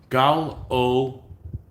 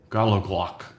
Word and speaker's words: gallowglass: Pronunciation is Gallowglass with a CH as in lotch or hotch. Okay, so Gallowglass. Gallowglass.